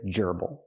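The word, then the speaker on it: gerbil: it's not a hamster it's a gerbal not a Geral but a Geral the stresses on the first syllable this is a Geral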